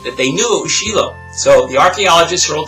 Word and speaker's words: Shiloh: To a story when I was visiting Shiloh. I know you think it's Shiloh, but in Hebrew it's pronounced Shiloh.